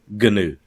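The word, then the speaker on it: GNU: the habit of saying things right now like ganu yeah right right right right we we laugh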